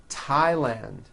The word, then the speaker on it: Thailand: Although these next words and names are spelled with a TH, they are pronounced as if they were spelled with a normal T, like that.